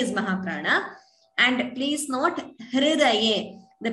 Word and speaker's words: हृदये: The way it is pronounced is Hridayam. Hridaye. It is not Hru. It is not Hrudayam. It is not that Ukara. It is Hrukara. So Hridaye.